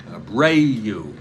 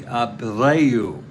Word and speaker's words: Abreu: Abreu. Jose Abreu is the Spanish pronunciation.